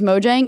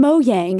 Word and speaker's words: Mojang: because I feel like everybody accepted that it was Mojang and this year at E3 they were like from moyang and I'm like what the hell have we been saying it wrong the whole time so I asked them